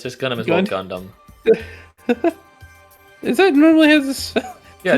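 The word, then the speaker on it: Gundham: and Gundam as well Gundam wait it's just gunam as Gundam is that normally has yeah that's how it's spelled h is silent yeah that's how it's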